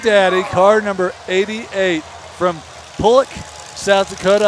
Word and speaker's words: Pollock: Big Daddy, car number 88 from Pullock, South Dakota. I said it right. I called it Pollock once, and I got yelled at for days. It's Pullock, South Dakota.